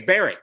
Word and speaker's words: Berwick: Pronounced what? Hoik. Hoik? Well, we've got Yeah. We've got one Berwick. That's Berwick. It's Berwick.